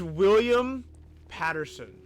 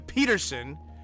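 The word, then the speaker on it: William Petersen: this and the FBI agent main character is William Patterson did I say that right because I never say it right Peterson I always get that wrong William Peterson who you probably know as Gil Grom copper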